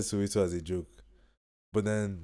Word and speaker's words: So080: So So as far as pronunciation goes, Soweto is calm, so 080 is calm.